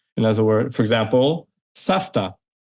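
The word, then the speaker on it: סבתא: In other words, for example, Safta. Safta, grandma, is spelled as if it's supposed to be savta. Mhm. But again, with the voice v, same, but we pronounce it safta because again, the ta, that's unvoiced consonant, and Mhm.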